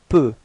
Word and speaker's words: peut: Il peut. Alright, so same way of pronunciation. You've got T at the end, but then you don't pronounce it.